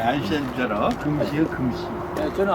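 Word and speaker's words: 愛新覺羅: 네, 아이신저러.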